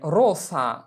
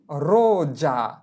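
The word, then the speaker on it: rosa: উচ্চারণ করা যাবে না যে রোসা রোসা এর উচ্চারণ হবে কি রোজা রোজা আমরা আরেকটা উদাহরণ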